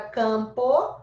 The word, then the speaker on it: campo: Na palavra campo, se eu fizer a fonética dela, ela fica assim, ó. Campo. Então, ó, eu tenho o A e o M, mas na fonética eu represento só o A com o tio.